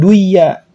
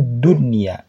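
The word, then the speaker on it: دنيا: Maka bacanya bukan duya, dibacanya dunya gitu.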